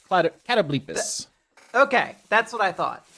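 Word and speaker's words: catoblepas: I posted a picture of it, and then Austin rejoined the call on cattlebopus. Cattlebopus. Yeah, the Oxford English Dictionary says it's pronounced catoblepus. Catoblepus.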